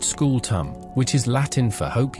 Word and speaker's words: scutum: This they explain is the asterisk skew star pronounced school tum which is Latin for hope you enjoy carrying this until your spine becomes decorative pottery.